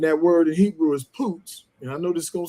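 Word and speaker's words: פוץ: And and that word in Hebrew is poots.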